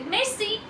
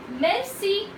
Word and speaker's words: merci: you say thank you in French you say Maisie once again guys Mel C at engagement thank you very much rich then